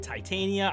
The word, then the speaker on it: Titania: I know I've been pronouncing her miscorrectly, but Titania, I've been working on it, so thank you.